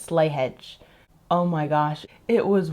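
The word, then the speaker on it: Slea Head: slyhead strive which honestly with the way it's pronounced it looks like it should be slee head or slee hey or something like that but it's Irish or Old English so it's slay hedge oh my gosh it was one of the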